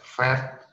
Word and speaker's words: Pferd: Sedangkan PF, dalam hal ini adalah das Pferd, jadi PF langsung digabungkan das Pferd, seperti itu.